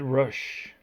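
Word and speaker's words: Roush: build my collection um Ed rush or Rous I think it's Rous I think I remember it's being pronounced Rous Ed Rous and um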